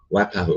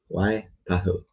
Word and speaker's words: Waipahu: Wapahu. I'm trying to pronounce Hawaiian or Polynesian. What is it? Polynesian? Hawaiian? Wapau. Waipahu.